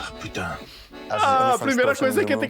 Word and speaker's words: putain: The best part of the voice acting was trying to make everybody say merde and putain.